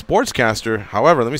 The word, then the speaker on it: Sportscastr: So it's Sportscaster. However, let me spell it out for you.